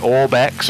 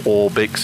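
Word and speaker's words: Orbx: What I have there is I have the Orbex, or Orbix if you prefer to pronounce it like that, Europe, then Orbix UK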